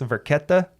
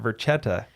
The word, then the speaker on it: Varchetta: See, this whole time I'd been pronouncing it Varchetta. Right. This whole time. But this when I wrote, your first lesson in Italian. Yeah, your CHs are pronounced as Ks.